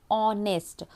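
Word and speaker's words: honest: लेकिन इसका जो साउंड है जब हम इसको प्रोनाउंस करते हैं तो ऑनेस्ट।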